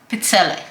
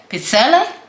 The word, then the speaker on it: pizzelle: I'm doing chocolate pizzelle. Now, I know there's different ways to say it. You can say pizzelle or you can say pizzelle.